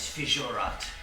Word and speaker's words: Fijurat: made it to the small outpost known as Fijat. Spell that for me.